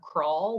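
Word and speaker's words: kraal: that the author designates using the afrikaans term crawl which is spelled k-r-a-a-l so in the center of the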